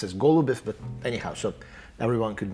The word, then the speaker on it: Goloubev: It's pronounced as Goloubev, but anyhow, so everyone could know where to find me.